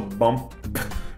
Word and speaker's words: bump: Nota que estou falando bump porque estou enunciando totalmente para vocês ouvirem, mas numa frase provavelmente não vou fazer p, vou fazer bump.